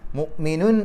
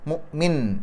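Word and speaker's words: مؤمن: ഓതാം രണ്ടിനും ഒരേ പ്രാധാന്യമാണ് നിർത്താതെയാണ് ഓതുന്നതെങ്കിൽ മുഅ്മിനു എന്നുള്ളതിന്റെ തൻവീനിനെ പരിഗണിക്കണം ശേഷം വരുന്ന അക്ഷരം വള്ളാഹു എന്നുള്ളതിൽ വാവ് ആണ് അപ്പൊ തൻവീനിന് ശേഷം വാവ് വരുമ്പോൾ ആ തൻവീനിനെ വാവിലേക്ക് ലയിപ്പിക്കുക മണിക്കുക ഇത് മുഅ്മിനൂ മുഅ്മിനൂ വള്ളാഹു അങ്ങനെ ഓതി പോകും ഇനി അവിടെ പാരായണം നിർത്തുകയാണെങ്കിലോ മുഅ്മിൻ അവിടെ സുക്കൂൻ ഇട്ടിട്ട് നിർത്തിയാൽ മതി വള്ളാഹു ബിമാഅ്മലൂന ബസീർ അവസാനത്തെ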